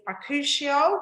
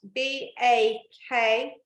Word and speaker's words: bakuchiol: So the first key ingredient is bakuchiol, which is spelt BAKUCHIOL, bakuchiol.